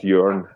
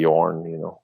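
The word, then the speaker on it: Jørn: So it's more like a ö. Oh, okay. So it's actually more like it's like in the Vikings, Björn, Ironside. Oh, all right. So it's Jorn actually when if you pronounce it right.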